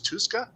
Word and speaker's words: Tuska: here but I gave the best artistic George tuska um pronounce that right Jessica yep so I went